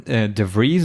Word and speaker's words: DeVries: am so let's do this because DeVries de Vries how do I pronounce that DeVries you got it right the